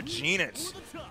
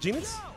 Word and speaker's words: Goenitz: Another Geenitz. Oh, you pronounce it Geenitz? I do. Okay, no, that's cool. I thought it was Geenitz. Thought it was Goenitz.